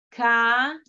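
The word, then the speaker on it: קרא: Ka-ra. La alef al final es muda. Si, no, al final es muda. No va a tener ninguna vocal.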